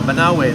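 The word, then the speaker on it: Banaue: Banawe.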